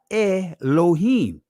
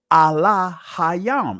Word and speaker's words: Elohim: So the proper pronunciation of God per se in the ancient Hebrew is not Elohim. It's Allah Hayam.